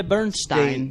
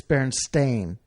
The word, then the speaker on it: Berenstain: when you go online you cannot find it spelled with an e it's Berenstain AI n bears hmm that is drastically different like if that was what it was called growing up I would have always called berenstain bears not Stine Steen